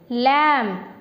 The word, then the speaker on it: lamb: See, even though there is a B at the end, we are not going to pronounce B here. B is silent.